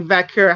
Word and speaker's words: Vaquer: It's because in the Spanish for like in Chile, it's you actually do pronounce it with like a K sound, so it is like Vaquer how they say it.